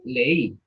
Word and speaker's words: leí: La palabra leí, ¿cómo la escriben? L-E-I. Yo me leí la novela. L-E-I. Acento en la I.